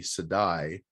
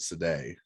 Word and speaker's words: Sedai: was too even though i read a pronunciation guide early on that i think said it was supposed to be sedai in my head i still called it sade right right well that's